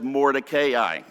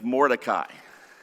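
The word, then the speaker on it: Mordecai: markings in it and it says Mor kayi but I preached this years ago in PL View Texas and one of the young children came up to me and they said you're mispronouncing Moray his name is morai and I said how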